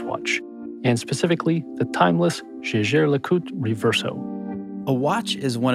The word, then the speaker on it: Jaeger-LeCoultre: And actually, one other thing that I don't think really has changed that much is people mispronouncing the brand name, which is Jaeger-LeCoultre. Are you sure it's not Jaeger?